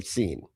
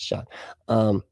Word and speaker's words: Sean: I keep wanting to say seen. Wow, he's seen somebody. No, that's Sean. Spelled correctly too, by the way, according to a friend of mine named Sean. But it's spelled like that.